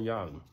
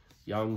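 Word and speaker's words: Jung: looks inside awakes uh Carl Young Young spelled with the j j u n g um so basically that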